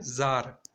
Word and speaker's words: Tsar: यहाँ पर जार का स्पेलिंग है CZAR और TSAR, बट जब भी हम प्रोनाउंस करेंगे तभी हमें क्या बोलना है? जार.